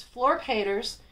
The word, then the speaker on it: Flor Peeters: what is his name and how is it pronounced and it's Fleur caters he's published by Edition Peters his principal publisher